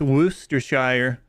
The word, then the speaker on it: Worcestershire: You've never heard people pronounce Worcestershire. It's Worcestershire. It's wash your sister sauce.